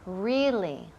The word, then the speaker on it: really: Really, really. Y énfasis en la primera sílaba.